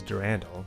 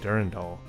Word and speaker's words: Durandal: the marathon ship's AIS the correct pronunciation is durandal now we'll try to maintain that pronunciation but I am likely to forget I wound up saying durendal the correct pronunciation comes